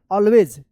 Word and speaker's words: always: देखिए यहाँ पे दो रूल है, यहाँ पे एक के बाद सिंगल एल रहे या डबल ए रहे तो एक का औ उच्चारण होता है ना, इसको क्या पढ़ेंगे? ऑलवेज, ऑलवेज पढ़ेंगे, ठीक है ना।